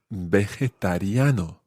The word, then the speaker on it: vegetariano: And that phrase is, soy vegetariano. Soy vegetariano. Muy bien. It is quite tricky to say. Try that syllable by syllable. Ve. Ve. Je. Je. Ta. Ta. Riano. Riano. Vegetariano.